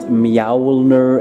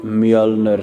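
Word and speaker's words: Mjölnir: Again, this one is not pronounced Mjolnir, it's Mjolnir, so get that one right.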